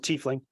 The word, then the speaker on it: tiefling: You mentioned a tiefling or tiefling or tiefling. I should, and whatever floats your boat. I pronounce it tiefling.